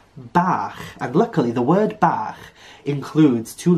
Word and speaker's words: bach: And this is pronounced CH. It's a very guttural noise. So in a word, for example, the word bach, which means little in the Welsh language, this is how you pronounce it.